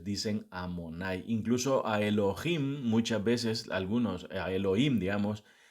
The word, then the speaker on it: Elohim: esos títulos entonces dicen am monay incluso a Elohim muchas veces algunos Elohim digamos no algunos es por por pronunciación sefardí as que nací yidish o lo